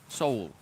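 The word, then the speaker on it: Seoul: yeah big fan of soul and that's how you say it's all it's two syllables man Pango there you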